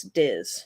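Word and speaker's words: Dís: I'm going to assume it's Diz, right? Because it's like the accent on the I. Yeah, yep. It's Diz. D-I with the accent S. Diz.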